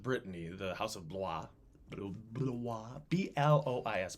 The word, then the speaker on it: Blois: And the former ruling house of Brittany, the House of Blois, B-L-O-I-S, Blois. If it was Wisconsin, it would be Blois. Like Du Bois, Blois.